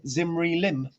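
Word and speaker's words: Zimri-Lim: just under 4 000 years ago was called zimri lim um and we've got letters from zimri lim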